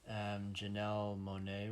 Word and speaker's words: Janelle Monáe: Janelle Monáe was in it. Yeah. That's how her name is pronounced.